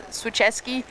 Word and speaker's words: Swicheski: We just got correction on this pronunciation of the surname, so it's Swicheski.